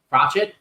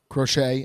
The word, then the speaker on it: Crochet: Garrett Crochet. Crochet, I think. Crochet. That would be the French way of saying his name.